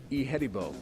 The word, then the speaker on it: Ihedigbo: First of all, give us the proper pronunciation of the last name. It's Ihedigbo. All right. Yeah. James Ihedigbo.